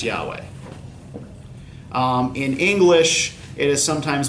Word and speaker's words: Yahweh: Hwy HWH combo right in Hebrew this is supposed to be pronounced Yahweh in English it is